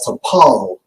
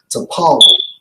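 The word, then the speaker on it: טָפַל: it's france h 2950 pronounced as to paul to paul now according to outline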